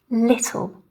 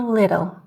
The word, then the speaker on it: little: For example, city, little, this kind of thing. And again, an American would pronounce these more as city or little, right? With the more of the D sound, okay?